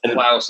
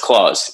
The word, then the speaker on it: Klaus: That's I think I went Klaus in the beginning. Sorry about that. I should have. Oh, you did Klaus? Yeah. Everybody does that, but no, it's actually pronounced Claus. Yeah, like right. Santa.